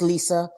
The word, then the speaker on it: Lisa: And Liza just thought it was hilarious, apparently. She loved it. Listen, it's Lisa, because they will come back and get on us for mispronouncing her name.